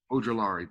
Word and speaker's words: Ojulari: And then Bills are taking edge rusher Isaiah, I'm trying to pronounce that name, Ojulari, I believe. Ojulari, thank you.